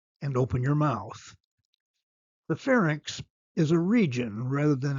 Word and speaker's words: pharynx: Notice the pronunciation of these words. Larynx is correct. Lex is not. Fernx is correct. It's not called the farx.